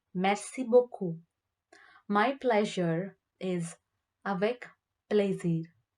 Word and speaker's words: beaucoup: Thank you very much is merci beaucoup. Merci beaucoup. The last letter P is not pronounced. Merci beaucoup.